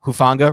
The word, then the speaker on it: Hufanga: he's rotating down anyway how do you pronounce it like Huff niggle like the old Giants offensive coordinator but hufanga rotating down and then